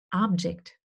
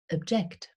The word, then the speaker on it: object: ersten Silbe betont und Object ausgesprochen oder Object. Und wenn es ein Verb ist, wird es auf der zweiten Silbe betont und so ausgesprochen. Object.